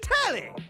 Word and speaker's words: Telly: I mean, what's The name's Telly. Rhymes with Nelly. Like, whoa, Nelly.